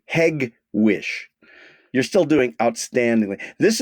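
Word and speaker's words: Hegewisch: i s c uh hedgewick very close very close it's a hard G hewish you're still doing outstandingly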